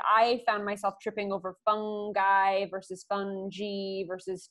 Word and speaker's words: fungi: wanted to be right so you can be fungi fungi funky fungi if you go with the classical roman pronunciation classical latin it's funky um doesn't really matter no one will no